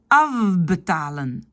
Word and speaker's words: afbetalen: Donc, afbetalen, c'est le F qui devient V. Afbetalen.